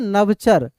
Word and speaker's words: नभचर: क्योंकि अब आएंगे इसके उच्चारण पे, नभचर कैसे बोलते हैं, नवचर।